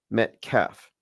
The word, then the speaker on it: Metcalf: Yeah, I was mispronouncing it. It's Austin Metcalf.